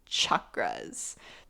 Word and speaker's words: chakra: and he talks about energy centers which from the flip side is chakras pretty much chakras actually they're pronounced chakras and I also have